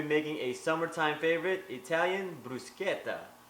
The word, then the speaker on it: bruschetta: today we'll be making a summertime favorite Italian brusketa not to be mispronounced as brushetta now this recipe was introduced to me by